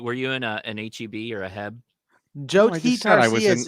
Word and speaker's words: H-E-B: best like is it is it pronounced hab or heb i don't know what you guys call it h-e-b i call it h-e-b